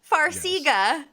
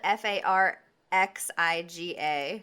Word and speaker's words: Farxiga: texted me the other prescription that they love farxiga the tuna and farxiga honey it's on are